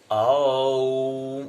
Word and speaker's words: ओम: ओम, उच्चारण करना भी नहीं आता हमको। ओ उ म, जहां पर जब ओ का हम उ और मो का उच्चारण करते हैं, तीनों तल पर हमारी मस्तिष्क से हृदय और नाभि।